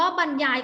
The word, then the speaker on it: บรรยาย: ยาย เด็ก ๆ ขา เวลา Reading เรา จะ อ่าน ว่า บรรยาย โอเค ไหม คำ ว่า